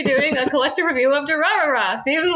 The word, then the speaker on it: Durarara: Then we'll be doing a collective review of Durarara, season 1. It's pronounced And Durarara.